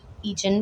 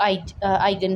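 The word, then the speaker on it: eigen: किसी ने जो है ना वो एगन बोला हुआ था, जो इंस्ट्रक्टर हैं इसके, तो जो इसकी फ़ाइनल जो करेक्ट प्रोनाउंसिएशन है वो जो थी वो आइगन वैल्यूज़ थी।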